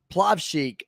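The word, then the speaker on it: Plavšić: You say Plavshik. The C in the is the same as in Jokic.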